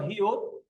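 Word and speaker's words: 히읗: তারপরে এটা হলো হিউত। হিউতের উচ্চারণ হ, আর এই অক্ষরটা যদি নিচে বসে তার উচ্চারণ হবে ত।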